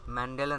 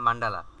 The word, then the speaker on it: মান্ডালা: ম্যান্ডালা না মান্ডালা, আমি ভুল উচ্চারণ করছি।